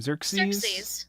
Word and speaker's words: Xerxes: Xerxes.